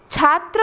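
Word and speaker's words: छात्रः: कहते हैं विसर्ग और इसका उच्चारण होता है हां के समान जैसे कि छात्र हम हिंदी में लिखते हैं और यहां पर दो बिंदु लग गए अमेरिकी विचारक लग गया तो इसको हम पढेंगे छात्रा हक छात्रा है जिसे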